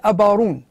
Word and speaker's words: أبارون: هو أبا هارون هذا، لكن نحن في جبل نفوسة لا ننطق حرف الهاء ولا العاء ولا الحاء، حروف اللهات هذه لا ننطقها في جبل نفوسة، فلا نقول عائلة أبا هارون، نقول عائلة أبارون.